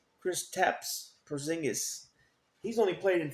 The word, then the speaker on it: Kristaps: We got how do you pronounce his first name? Kristaps Porzingis.